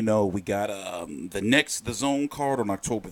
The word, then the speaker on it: DAZN: a look around the it's called the zone but they spell it Daz and from now on